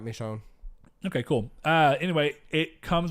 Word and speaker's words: Michonne: Not a fan of the show or the game, so if I pronounced that wrong, I'm sorry. You got it right, Michonne.